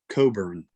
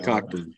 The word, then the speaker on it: Cockburn: It's his last name is pronounced Coburn, not Cockburn.